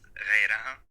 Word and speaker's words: غيرها: Can you tell me again how can we pronounce غيرها? غيرها. Okay, غيرها. This is why you can see double sukun. A sukun on the yeh and the sukun on the ra.